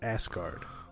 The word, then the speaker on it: Asgard: with the ass guardian it's asgard it's pronounced asgard well you know well